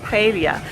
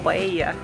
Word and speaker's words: paella: So I used to have this dish, Spanish dish, paella or paella, different pronunciations, and it has seafood, vegetables and some rice.